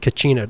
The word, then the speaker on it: Kachina: The basket collection it's pronounced Kachina dolls.